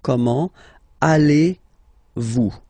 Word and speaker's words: comment allez-vous: So the first question, how do you do in French, is comment, so how, comment, allez-vous?